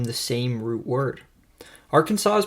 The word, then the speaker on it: Arkansas: same root world word Arkansas is pronounced differently with a silent S at the end because it has been gallicized turned French French fur Traders pronounced